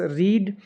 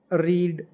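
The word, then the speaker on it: read: Boys रीड the newly published novel, boys have रीड, अब नहीं बोलेंगे, अब इसको रेड बोलेंगे, क्योंकि हैज़ हैव है के बाद में थर्ड फॉर्म का यूज़ होता है, उनको ऐसा प्रोनाउंस करते हैं।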